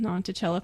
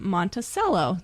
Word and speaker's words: Monticello: was teasing him about it's spelled monello like you would you know Thomas Jefferson's home monello but in Utah they say it Montello so we learned something